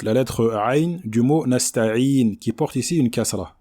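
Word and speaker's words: نستعين: Donc il faut bien faire une kasra complète, un son I complet. Nasta'in, nasta'in, et non pas nasta'in, d'accord?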